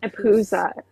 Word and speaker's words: Empusa: Impoos. Empusa. Yeah. Empusa. Yeah. Empuse I in the plural and empusa in the singular.